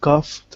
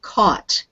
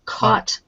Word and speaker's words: caught: of work okay now that word is doesn't have the F sound to it it's just caught I caught caught a cold so